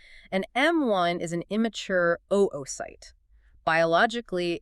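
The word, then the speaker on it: oocyte: So you will hear us use the term oite. That is the exact scientific nomenclature for the unfertilized egg cell. And we really want to be highly deliberate about that pronunciation. Oight.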